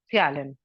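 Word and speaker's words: ptyalin: of SL is Calin p is silent actually it is known as Calin understood children yes yes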